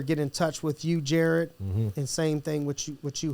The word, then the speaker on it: Jaryd: Jaryd like the jewelry store, not the Subway guy.